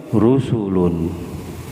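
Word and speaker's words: رسل: Kalau banyak rasulnya rusulun, rusulun. Jadi 3 huruf, asalnya 4, ro, sin, waw, lam, 4 rasulun. Terus berubah jadi 3 rusulun, ro, sin, lam, rusulun. Rusulun bacanya ya Mas, rusul.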